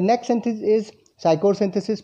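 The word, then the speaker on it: Pschorr synthesis: The next सिंथेसिस इज़ साइकोसिंथेसिस पी पी यहां पे silent है।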